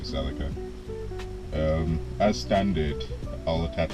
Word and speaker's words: Celica: So, as standard, these wheels did not come on all the other Celas or Celas, however you choose to pronounce it. I call it a Celica.